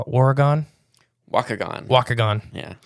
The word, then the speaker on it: Waukegan: Waukegan. Yeah. Spelled like walk.